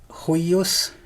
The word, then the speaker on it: huius: So here we have the genitive of that pronoun, huius, and in pronunciation that intervocalic I is a geminate, so huius, despite its spelling.